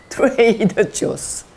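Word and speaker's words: Trader Joe's: 트루아조가 아니고 트레이더 조스.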